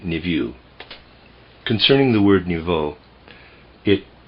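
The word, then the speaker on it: niveau: most perfect most beautiful the word I'm pronouncing or trying to pronounce there is n i v e a u I'm pronouncing it nevue concerning the word nouveau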